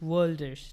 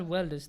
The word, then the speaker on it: worlders: So the new word that I made is worlders. W-O-R-L-D. Not welders, the worlders.